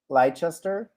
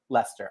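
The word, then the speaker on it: Leicester: either kathy is from lychester am i saying that right like lycaster lister i believe it's lester yeah okay is that how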